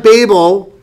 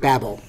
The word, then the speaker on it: Babel: the story of Babel whereas my daughter pronounced it Babel my Hebrew Professor I asked him the other day how do you say this word he goes you you mean Babel I go yes they were babbling that's when they were babbling at at Babel all right so let